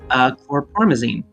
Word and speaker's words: chlorpromazine: It looks like the red capsule that Rena had is likely also chlorpromazine.